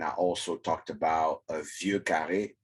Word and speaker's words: Vieux Carré: Last week I talked about Armagnac, and I also talked about a Vieux Carré, which American people will call Boucaré as a cocktail, but it is Vieux Carré.